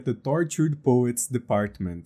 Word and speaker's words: The Tortured Poets Department: É assim que se pronuncia, eu sou professor de inglês, então você pode só repetir o que eu falei aqui agora. E se alguém te falar, não é assim, você vai mostrar esse vídeo pra ela e fala, um professor de inglês, um cara que dá aula há 12 anos, me falou que se pronuncia The Tortured Poets Department.